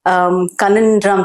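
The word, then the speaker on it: Conundrum: ही ज written this book very interesting book कनन ड्रम sir this इ हाउ you pronounce it the capital कनन ड्रम हां जी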